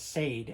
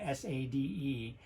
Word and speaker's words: Sade: People, you know, certainly younger people see her name as Sade, S-A-D-E, but it's actually pronounced Sade.